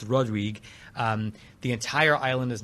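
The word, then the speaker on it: Rodrigues: I also flew to a a smaller island of of Mauritius called Rodrig. It looks like it's pronounced Rodriguez, but it's Rodrig.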